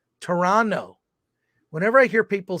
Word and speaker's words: Toronto: the correct pronunciation is the second T is silent it's Toronto Toronto whenever I hear people